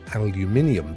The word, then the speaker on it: aluminium: You pronounce aluminum exactly as you spell it, which is correct. You spell it without the extra aluminium, the IN that we have. Aluminum, you see? We spell it with an extra in it, hence why we say aluminium. But you just cut that bit out and go straight for aluminum.